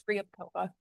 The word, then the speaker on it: Ryabkova: Nadia Ryabkova. Did I pronounce that right? What? Did I butcher your last name? It's Ryabkova. Oh, that's an R.